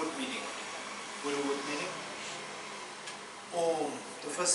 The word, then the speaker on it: Om: Combined together, it becomes Om.